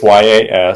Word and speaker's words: Yastrzemski: The funny thing is, I used to, when I was a kid, purposely pronounce it Yastrzemski because I knew that's how you spell it. So you can get it. See, like to this day, I always get something wrong. I believe it's Yastrzeemski.